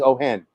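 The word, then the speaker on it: Ojen: bars so uh and the j is pronounced like an h because it looks like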